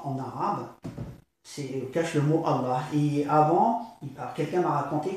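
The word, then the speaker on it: الله: le lit, alif, lem, lem, ha, qui dit Allah. Voilà. Ceci que, donc on voit bien que le mot lui, qui est en huwa en arabe, cache le mot Allah.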